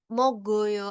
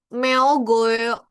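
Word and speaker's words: 먹어요: Karena kayak tadi tuh, kasus oh, diri tulisannya eo. Kita ngebacanya eo aja, misalnya kayak kita tanpa sadar ngomong eo, itu kita udah kelihatan pasti ini, apalagi kalau ngomongnya jelas eo, kayak mogoyo. Nah, itu kan dia tulisannya eo. Meogoyo.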